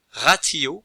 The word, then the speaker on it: ratio: T se prononce toujours T, jamais S, se. Ratio, le calcul.